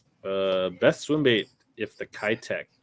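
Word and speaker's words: Keitech: swim bait if the kytek actually it's the kate k tech i think it's pronounced ktek that's it best swimbait the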